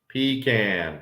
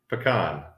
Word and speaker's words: pecan: okay no no see pecan pie now I'm gonna say it wrong pecan pie yeah pecan maybe I do say it that way I don't know there's some and maybe it's all in the in the syllable if you can or something we do the can um when I get down